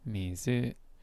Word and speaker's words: 水: Now let's hear the pronunciation. 水 Mizu.